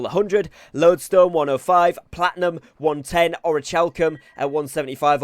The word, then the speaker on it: orichalcum: lodestone 105, platinum 110, orichalcum at 175, or orichalcum, apparently I was told it's pronounced there.